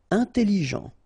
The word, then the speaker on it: intelligent: Intelligent. Final T not pronounced, so G-E-N, Jean, okay? Intelligent.